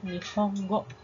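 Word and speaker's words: 日本語: Ingat ya, walaupun NG-nya cuma satu, tapi dibacanya tetap Nihongo.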